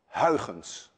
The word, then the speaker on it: Huygens: suggested by my countryman Huygens which actually should be pronounced hyphens none of you can